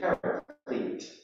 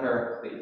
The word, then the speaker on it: paraclete: The word is paraclete, not paraclete. I said it wrong this morning at the 8 o'clock. Somebody thought I was talking about a Greek god. No, paraclete. Paraclete is the word, and it's variously translated